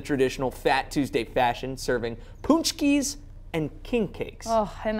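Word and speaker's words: pączki: Punchki.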